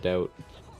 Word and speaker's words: doubt: Silent B in the word doubt.